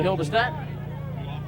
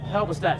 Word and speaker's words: Halberstadt: Take two for Hildestad. Halberstadt, should I say? Pardon me, but saying the name wrong.